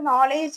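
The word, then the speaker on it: knowledge: കാണും നല്ല പ്രിറ്റി ആയിട്ടുണ്ടാകും ഇപ്പൊ നമ്മൾ നോളഡ്ജ് എന്ന് പറഞ്ഞ് എഴുതുമ്പോൾ അവിടെ കെ യൂഷ്വലി സൈലന്റ് ആണ് അപ്പൊ നമ്മൾ കെ ഇല്ലാതെ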